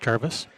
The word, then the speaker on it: Jarvis: Yeah, it's pronounced Jarvis.